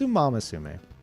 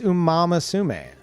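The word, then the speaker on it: Umamusume: I'm I'm No, it's Umamasume. It's Umamasume. Uma. Umamasume.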